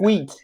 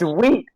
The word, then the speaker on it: Wheat: It's wheat, not wheat. You don't pronounce the H.